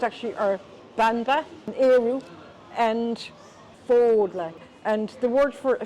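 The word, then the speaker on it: Fódla: And the other one is Fodla, not Fadla, but Fodla. Fodla. Like you're folding your clothes.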